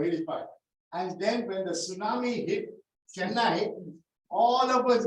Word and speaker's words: tsunami: word it's called the tsunami to Tsunami because we never knew that the tea was silent and when I was working there I was talking about 83 84 85 and then when the tsunami hit Chennai all of